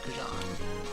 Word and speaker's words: xujhan: But yeah, the original canonical pronunciation of xujhan from when I invented the name is xujhan.